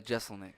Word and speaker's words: Jeselnik: Jeselnik.